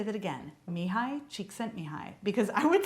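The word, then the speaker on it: Csikszentmihalyi: summarizing the book flow by mihai cheek sent me high and i'm going to say that again mihai cheek sent me high because i would say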